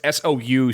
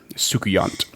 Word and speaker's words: Soucouyant: That's the best pronunciation I can give you. It's Soucouyant, Soukuyant.